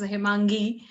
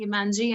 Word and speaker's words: Himangi: but uh in u.s i can totally relate to the pronunciation of gi as gig so it's like i always say that you gave me more power because a few of my friends are there and they say himanji and i said yes